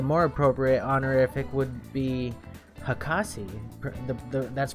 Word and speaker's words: hakase: Jean says, however, if someone has a doctorate of some kind, then the more appropriate honorific would be hakase. That's pronounced Hakase.